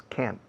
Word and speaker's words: can't: In fact, in English, we don't pronounce can't. Realmente no pronunciamos sonoramente, no se oye la T.